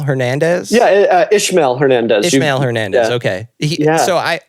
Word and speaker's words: Ismael: But the main artist, am I pronouncing it right? Ismael Hernandez? Yeah, Ishmael Hernandez.